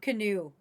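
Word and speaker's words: Kinew: This is Wob Canoe. And I wish his last name was spelled like canoe, but it's not.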